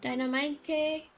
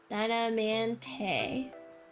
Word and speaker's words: Diamante: Also, you mispronounced Diamante. Dynamite? Is it dynamite? No. Oh! Dynamante. Dynamante, okay.